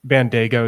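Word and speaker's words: Bandaogo: That's Bandago is how you say it.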